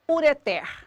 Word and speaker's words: ureter: no caso da palavra ureteres a sílaba tônica da palavra ureter é o pé sempre contando do fim para o começo eu tenho aqui uma